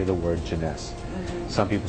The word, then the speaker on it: Jeunesse: joining this business is to say the word Jeunesse. Some people say Genesis, you know, they can't pronounce it.